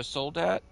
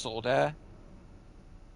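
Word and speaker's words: soldat: that's it's actually pronounced solder um is the French word for Soldier but obviously you're not supposed to pronounce the T because you don't really pronounce any of the endings in French like it's kind of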